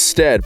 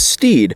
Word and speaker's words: Stead: Our surname is Stead, pronounced to rhyme with bed, but much to my family's annoyance, people call us Steed.